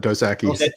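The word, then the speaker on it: Dos Equis: fun of liam whenever she says instead of dosaki that's like literally the spanish like if you're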